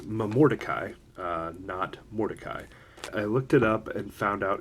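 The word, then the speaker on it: Momordicae: what dried fruit dis mom or dekai I was saying it wrong all 27 times but I said in the first part of the video but it's mom or Takei mordecai i looked it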